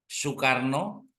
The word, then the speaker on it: Soekarno: juga berubah kalau dulu itu tulisannya Soe itu dibaca u Soekarno soharto tapi tulisannya sekarno